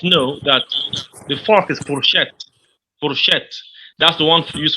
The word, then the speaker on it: fourchette: But just know that the fork is fourchette. Fourchette. That's the one used for eating. Fourchette is spelled F-O-U-R.